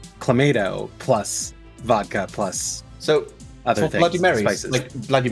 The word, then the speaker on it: Clamato: my younger brothers because they were pronouncing it Clamato and I'm like nope it's Clamato because it is clam juice and tomato juice that is clemento yes